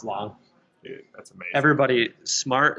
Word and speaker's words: SMAR7: Everybody, smart is spelled with a 7. It's SMAR7. It's pronounced smart.